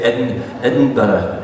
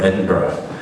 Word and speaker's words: Edinburgh: So first you go to Edinburgh, And you got to learn how to say Edinburgh, Edinburgh. And even as good as you say it, you still hadn't said it right. They'll still correct you, right? But it's not Edinburgh.